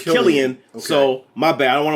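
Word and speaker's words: Cillian: with a c so i've been saying cilia but apparently it's killian so my bad i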